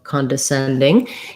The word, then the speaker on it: condescending: mentioned in anxiety so condescending you might find it helpful to go syllable by syllable con descending another thing i recommend